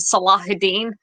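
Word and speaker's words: Salahuddin: Anglo angiz there's my word angiz version of salahudin um which is the proper pronunciation of that um but yeah so basically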